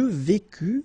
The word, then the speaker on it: vécus: Je vécus, final S not pronounced, tu vécus, same thing.